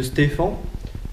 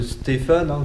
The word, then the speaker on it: Stefan: on veut utiliser la loi de stefan attention ne prononce pas la loi de stéphane comme certains faites bien attention comment